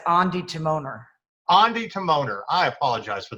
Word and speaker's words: Ondi Timoner: naples film festival and i am speaking with ondi timminer and am i pronouncing we do it again yeah yeah it's andy timoner andy timoner i apologize for that uh anyway